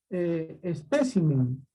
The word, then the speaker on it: espécimen: Otro ejemplo similar es la palabra espécimen.